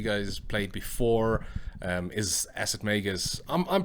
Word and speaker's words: Acid Magus: literally checked on google the pronunciation is magus like las vegas so yeah acid magus